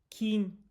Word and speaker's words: quince: K K K K quince. So, the Q is like a K, the C is like a th.